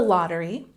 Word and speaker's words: lottery: Whenever you see this apostrophe here, it means that this syllable is emphasized.